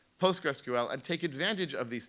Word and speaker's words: PostgreSQL: So just as a quick thing, it's pronounced PostgreSQL. And if you post a note to a mailing list asking about Postgre, First of all, you will be laughed at,